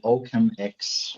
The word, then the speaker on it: OccamX: occam yeah so so let let me pronounce it with my german accent i call it oakham x okay um but it's